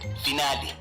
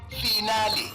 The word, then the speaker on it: finale: miss pronunciation today's word finale origin Italian pronunciation finale meaning the last part of a series commonly mispronounced as final as if you are discussing your metric results example I can't wait